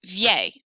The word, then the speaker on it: vieil: This is pronounced vieil. Mon père est un vieil homme. Vieil homme sounds much more flowy, vieil homme, than vieux homme.